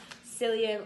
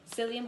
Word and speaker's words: psyllium: So people who struggle with like bloating, pain, anything through your bowels, psyllium husk is really good. It's spelled with a P, so if you type it on the website, it's PSYLLIUM.